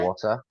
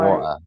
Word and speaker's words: water: know the word Yeah, water. So where I'm from in Manchester, we don't really pronounce the T in the middle of the word. So usually I would water say or water, water, uh, oh water, right?